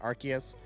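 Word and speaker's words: Arceus: you to pronounce it if that's how they wanted you to pronounce it they should have spelled it with a k Legends okay love that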